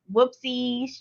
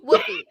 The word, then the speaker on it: Woofy: It's Whoopsie's Trip to the Hospital. Am I saying it right? Yeah, Woofy. Whoopsie. Woofy, like, because the dog says woof.